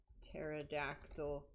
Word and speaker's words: pterodactyl: And I was going to say cuz the P is silent but now we're